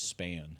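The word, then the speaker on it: Spann: the one that's been I've been saying it wrong I finally listened to it it is span okay yeah or at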